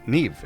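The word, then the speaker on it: Niamh: model pose uh name is pronounced Neeve it's an Irish name okay thank you flop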